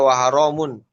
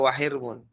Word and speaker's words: wahirmun: Nah, wahirmu waharamun ya, kalau Imam Hafiz baca waharamun tapi Imam Syu'bah baca wahirmun, haknya dengan harokat kasroh, roknya juga sukun.